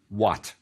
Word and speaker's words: wat: Yes, it's a word with the wa biliteral, and it's feminine with a T, so it's pronounced wat.